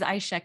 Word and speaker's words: Aixa: My name is Aixa. Has a funny spelling. It's spelled Aixa.